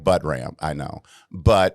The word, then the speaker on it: Buttram: And it's Buttram spelled like Buttram, I know, but it's Buttram. Oh my God. It's a sophisticated pronunciation of the word.